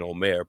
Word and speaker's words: Homer: a poet uh named Hom OR Homer however you want to pronounce his name um I believe in Greek it would have been Omare but um it's a